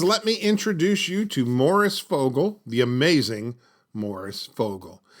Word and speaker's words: Maurice: I might point out his first name is pronounced Morris not morrice I always made the mistake myself of saying Maurice after watching several videos